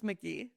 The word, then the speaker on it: McGehee: It's McGee, but it does look like You McGee.